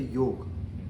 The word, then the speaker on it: yoga: So yoga, say for example, many people say yoga. कहाँ जा रहे हो yoga? Say it rightly, just yoga. Even some people say yoga. That's also not correct. It's yoga. You understand the varnamala, the phonetics.